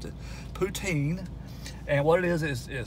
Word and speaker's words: poutine: and what i have here that's called uh puntain sorry i misspelled or pronounced it poutine and what it is is french fries with